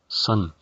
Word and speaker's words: sun: Por ejemplo, si hace mucho sol, recordemos que la palabra sol en inglés es sun, palabra que como la mayoría de ustedes ya sabe, la U suena como una A. Sun, la cual al referirnos al clima modificaríamos de la siguiente forma.